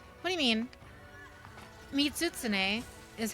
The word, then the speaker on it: Mizutsune: tsuna yoshisawara it's it's it's silent almost or kind of bleeds into each other it's like the main